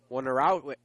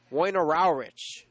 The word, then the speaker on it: Wojnarowicz: I'm not exactly sure how to pronounce that. It's a Polish name. As that pitch misses low, 2-1 the count. It's spelled Woinerowicz. Wojnarowicz is what we'll say right now.